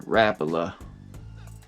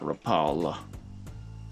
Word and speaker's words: Rapala: made by Rapa and that's how they say it in Finland dude Rapa not Rapala I grew up saying Rapala too and I want to